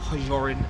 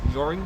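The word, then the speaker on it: Hjørring: Jorin is pronounced with a silent H, so it's not Jorin, it's Joring? Joring.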